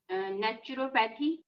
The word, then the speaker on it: naturopathy: Naturopathy. Naturopathy. Don't say pathy. It's not. Don't flatten the pathy. Uh-huh. Just naturopathy.